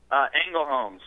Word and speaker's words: Ängelholms: How do you pronounce it? Ängelholms.